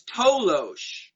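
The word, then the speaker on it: toloache: there was also a compound um known as tolosh it's spelled t-o-l-o-a-c-h-e and that was a plant native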